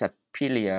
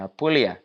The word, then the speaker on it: Apulia: word correctly um it's I'm pretty sure it's a pelia or something like that let me make sure I'm saying it correctly though okay apolia okay apulia polia a narrow land stretching out in the